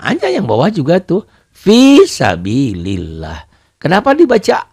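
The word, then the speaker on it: في سبيل الله: Fi-nya matobi'i. Sabi, bi-nya juga matobi panjang. Kenapa kasroh dengan ya mati? Nanti kita bahas ya matobi ya. Fisabilillah. Lafaz Allahnya dibaca tipis, dibaca tarqiq.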